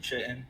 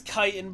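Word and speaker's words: chitin: slim kiten sorry K chitten it's I'm F I know it's kitan but I've pronounced it chitten in my whole life because I've never heard it pronounced before and it's a CH so give me a bre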